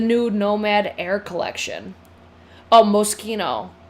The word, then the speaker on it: Moschino: Pronounce the ch like a K. Moschino?